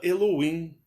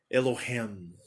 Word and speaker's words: Elohim: O americano fala assim, Elohim. Elohim. Aquilo foi um choque em mim, com 15 anos de idade. Elohim. Mas no Brasil vocês vão pronunciar diferente.